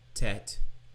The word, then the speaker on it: tet: So, we see the letter tet is a T, one of two forms of the T sound.